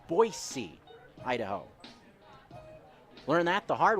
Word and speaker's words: Boise: about the city of boise idaho it's not boizee it's boise idaho learned that the hard way last year